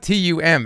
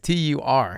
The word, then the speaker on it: turmeric: It's not TUM, it's TUR. I know, but nobody says the R except for you. Remember this? What was it? Temple turmeric?